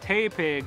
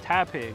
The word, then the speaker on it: Tepig: i didn't know so naturally i call it tay pig instead of tap pig so you'll so during the vlog you'll see